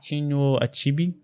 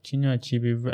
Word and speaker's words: Chinua Achebe: How do you pronounce his name? Chinua Achebe. You should know. Yeah, I should know. Chinua Achebe, amazing guy.